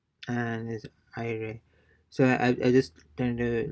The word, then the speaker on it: aire: So AIRE, it's and is IRE.